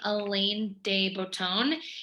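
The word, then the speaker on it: Alain de Botton: with a quote from i believe you pronounce his name elaine dey bouton he is the author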